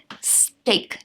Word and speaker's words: steak: Steak, not steak. Very commonly mispronounced. Steak, the chicken steak that you eat.